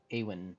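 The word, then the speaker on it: Éowyn: How do you pronounce his name again? Eowyn. Yeah, Eowyn.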